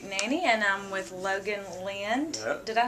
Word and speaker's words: Lind: the Nashville hoot Nanny and I'm with Logan Lind did I pronounce that correctly that is correct spell Lind